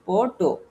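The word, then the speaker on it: photo: মানে পন পি এইচ ওটি ও মানে হচ্ছে ফটো আর হচ্ছে আমরা এটাকে শুদ্ধভাবে ফটো বলিফোন বলি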